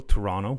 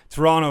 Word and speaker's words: Toronto: it like a local Toronto we don't pronounce the T at the End Toronto who is mostly known